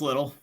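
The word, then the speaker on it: Littell: say it little or litel sniper is it little or I believe it's little all right l-i-t-t-e-l-o I guess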